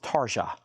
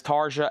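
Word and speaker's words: Tarja: That's T A RJ A. I think that is pronounced Taria.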